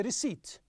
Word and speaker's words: receipt: you what a receipt we told you the P is silent it's a receipt because if you have